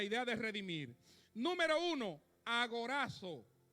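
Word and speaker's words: ἀγοράζω: de redimir número uno agorazo bueno con z pero yo como dominicano lo pronuncia así usted me entiende verdad agorazo mejor ahí Ok Qué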